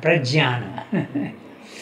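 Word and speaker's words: प्रज्ञान: In Marathi it is known as Prajnano. Nyan. In Sanskrit you pronounce it like that. Jnana, Jnana, Prajnana.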